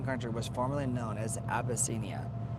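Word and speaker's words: Abyssinia: What country, what African country was formerly known as Abbyia? Ab y ss i n i a like abyss. Abbyia.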